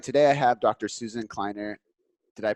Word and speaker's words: Kleiner: Susan kleiner did I pronounce that right kleiner okay good cuz I hate when I put